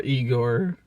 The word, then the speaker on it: Igor: for yourself ma is igore he kind of is isn't he um or eigor it's usually pronounced Igor but um yeah so